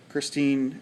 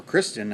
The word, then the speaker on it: Christine: two out of ten Christine or Kristen I think is how he pronounces it I guess I would too Kristen Michael of the